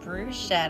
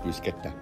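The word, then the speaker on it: bruschetta: and he also got Bruce shed at me it's pronounced brusketta brusa yeah I asked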